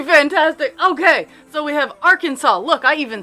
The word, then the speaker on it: Arkansas: Okay, so we have Arkansas. Look, I even said it right. Arkansas.